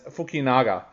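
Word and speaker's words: Fukunaga: i believe i believe the surname would be said as fukinaga that's it um yeah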